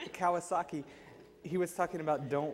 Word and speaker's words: Kawasaki: yesterday he always mispronounces I always want to say kawasi I don't know why it's a motorcycle Kawasaki he was talking about